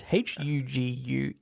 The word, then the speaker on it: Huguenots: I don't know if I'm pronouncing that right. It's Huguenots.